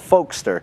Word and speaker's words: Folkstr: For example, I have a friend of mine, he's starting a company called Folkster. It's spelled Folkstr. Okay, not ER, just R.